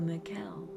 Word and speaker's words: Mikel: It rhymes with Michelle. So Mikel.